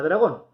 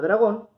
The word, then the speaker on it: dragón: Vamos a ver el caso de la palabra dragón. La palabra dragón es una palabra aguda, porque su sílaba tónica es gon.